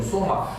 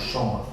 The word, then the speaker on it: Сома: Мы говорим Сома, а бенгальцы они смягчаются, они говорят Шома.